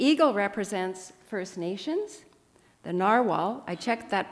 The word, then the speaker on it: narwhal: today but the eagle represents First Nations the Narwhal I checked that pronunciation it's narwhal now represents the Inuit and